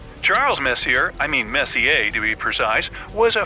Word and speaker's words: Messier: stands for Messier pronounce Messier not Messier as in is your room messier than mine Charles Messier I mean Messa to be precise was